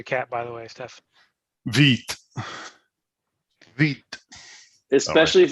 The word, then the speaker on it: Vite: French word for the part that says French word for fast pronounced Vite is straight from the Vite docs.